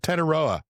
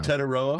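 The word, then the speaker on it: Tetairoa: Tedoa is how you say his name now. Tedoa.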